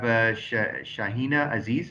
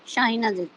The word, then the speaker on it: Shaheen Aziz: And Madam, we have Shahina Aziz. Am I pronouncing that right? Yes, sir. Shaheen Aziz.